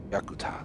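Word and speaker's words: Yakutat: about to try and land at this airport yakuta that's how you pronounce it center airbus tango golf sierra is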